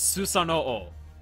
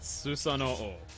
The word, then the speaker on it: Susanoo: It's Susanoo. That's how you pronounce it. Susanoo.